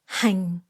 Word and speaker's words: hành: The word for green onion is hành, falling tone.